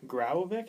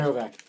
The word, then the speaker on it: Graovac: Another point on the Jets, Minnesota put Tyler Graovic, is that how you say it? Graovac.